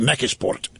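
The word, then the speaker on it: McKeesport: I My first job outside of town was in Mikisport. I was or as the natives called it. It's a very Polish community. They call it Mechisport because they couldn't pronounce Mckisport. Mechisport.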